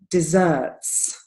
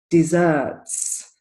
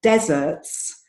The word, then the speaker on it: desserts: word the pronunciation is desserts desserts so the stress is on the second syllable if you put the stress on the first of the ball and say deserts then we're talking about